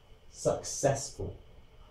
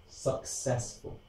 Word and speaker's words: successful: Okay, now a lot of people struggle with the pronunciation of this word, which is why I'm using it as an example. You could break it down for pronunciation purposes, and you could say like this, successful.